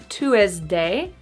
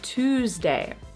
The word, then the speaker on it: Tuesday: 12, Tuesday. Not Tuesday, but Tuesday.